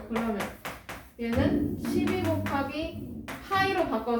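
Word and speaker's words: π: 그리고 얘는 이렇게 쓰고 파이라고 읽어요. 뭐라고? 파이.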